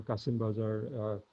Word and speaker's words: Qasim Bazar: in the colonial text, in Kashim Bazar or Qasim Bazar in the Indic pronunciation, where Job Charnock in